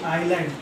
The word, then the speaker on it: island: आइलैंड का spelling बताया मैंने, ISLAND, आइलैंड, एस साइलेंट रहता है।